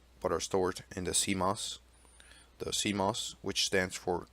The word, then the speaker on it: CMOS: for setup the bios also contains the CMOS pronounced CMOS setup program this program normally accessed during its